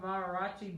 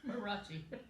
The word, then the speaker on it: mariachi: Marachi. I don't know what it is. Marachi. I was trying to say it right, but you know, sometimes it just doesn't. It just doesn't work. Mariachi. Mariachi. I knew there was something missing there.